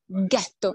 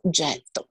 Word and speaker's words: ghetto: was jeto g-e-d-g-e-t-o and the first jews that moved here speak in german would therefore pronounce the word jetto with a guttural god so ghetto instead of jetto and in 1542 this